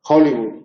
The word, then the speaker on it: Hollywood: O como Hollywood se dice, ¿no? Hollywood, sí, la meca del cine, pues, con J, ¿no?